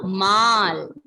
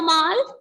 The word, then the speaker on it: mal: Okay, ending letter L will not be silent. Here we will pronounce the L.